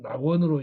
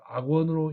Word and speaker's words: 낙원: 그래서 즐긴다는 뜻으로 쓰일 때는 낙으로 발음합니다. 그래서 이 낙원은 낙원으로 읽어야 맞고 이 글자를 악원으로 읽으면 뜻이 틀리게 됩니다.